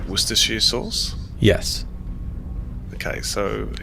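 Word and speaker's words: Worcestershire: ever had things like worcestershi sauce yes okay so it's it's not bad wait did you just say it correctly how did you say that word what's this [ __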